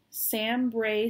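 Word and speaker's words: SamBrie: the next thing is sam bray stitches i'm going to spell it because it doesn't it doesn't sound like sanbury sambri it's s a m b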